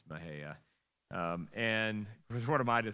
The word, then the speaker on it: Mexia: Looks like Mexia, but it's Mahia.